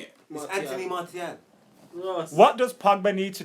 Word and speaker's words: Martial: knows what properly is it's Marti no doubt I feel like Marshall is just easier to say I feel like we just say it how you want to say it Anthony martial what does Pogba need